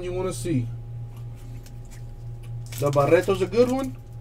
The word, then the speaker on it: Barreto: A Franklin Barreto auto. There you go. Hit you with the correct pronunciation and all. Had to roll my R's there a little.